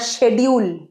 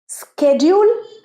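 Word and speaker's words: schedule: water জল water water চে বুঝতে পেরেছ বাংলায় উচ্চারণটা অনেকটা চে নট চেয়ার ক্লিয়ার পরেরটা সেজউল স্কেডিউল না সেডিউল অনেক রকম প্রনান্সিয়েশন সে British English স্কে American English স্কেডিউল American ইংলিশে স্কেডিউল American English সেডিউল British English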